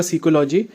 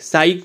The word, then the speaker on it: psyche: सीकी है, ठीक है, सीकी इसका करेक्ट प्रोनाउंसिएशन है, PSYCHE। साइक भी बोल लेते हैं हम लोग, लेकिन सीकी जो है वो इसका करेक्ट प्रोनाउंसिएशन होगा।